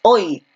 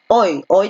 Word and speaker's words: hoy: Cuando una palabra termina en Y, esta tiene el sonido de I y se le considera como la vocal I, más no como la consonante Y.